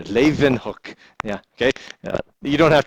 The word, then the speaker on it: Leeuwenhoek: She even got the V in there. Leeuwenhoek.